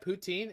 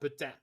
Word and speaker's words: poutine: And not only that, it has 2 pronunciations. You got poutine and you got putain. And even though putain doesn't have the word poo in it, it still sounds worse to me.